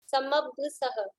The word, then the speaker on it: समभ्यसः: और समभ्यसः, ये ब आधा है, समभ्यसः, समअभ्यसः, समभ्यसः।